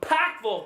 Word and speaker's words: Pikeville: Up first, our musical guest is from Pikeville, Kentucky. That's how you say it, whether you like it or not.